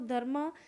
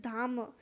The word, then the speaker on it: Dhamma: मतलब यहाँ पर जो DHAMMA था वो मैं इसको धर्म प्रोनाउंस कर रही थी, but basically it इज धाम.